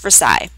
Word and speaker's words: Versailles: old Royal Palace in Versailles France that's pronounced Versa with the purpose of